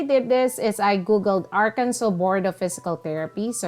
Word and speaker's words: Arkansas: and tip it is called AR it is pronounced as Arkansas not Aransas okay Arkansas so here you can see that they have